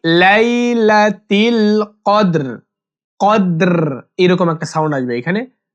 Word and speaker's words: কদর: কদর ফি লাইলাতিল কদর কদর এরকম একটা সাউন্ড আসবে এখানে মানে বলবেন রটা হালকা উচ্চারণ হবে এরকম লাইলাতিল কদর লাইলাতিল লাইলাতিল লাইলাতিল আমরা